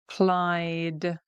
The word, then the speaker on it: applied: Applied, applied, because we've got an I there, it's